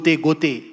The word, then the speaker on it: Goethe: Students of German, you might have heard the name Goethe Institute, Goethe. It's not Goethe, it is Goethe. Actual pronunciation is that.